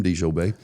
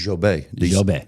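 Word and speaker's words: Djobet: And he's not from Bessemer with that name, De Jobae. Yes, that's how you would say it. When I say is it De Jobae? No, it's Jobae. D is silent.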